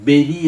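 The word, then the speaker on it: bury: B-U-R-Y ennala vaak ennu uccharanam beri ennana, bari ennala.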